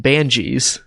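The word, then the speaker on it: Banges: while listening to it the narrator Jim Dale pretty pronounces that a lot different than I would he pronounces that dervish and ban jeez and it really threw me off I can see where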